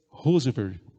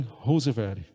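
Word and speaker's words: Roseveare: médica a dra helen rose verde vocês a pronúncia é exatamente essa é a britânica helen rose verde e eu gostaria de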